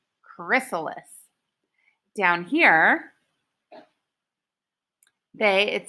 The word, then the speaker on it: chrysalis: how to say it Chris ah Liss chrysalis down here hey it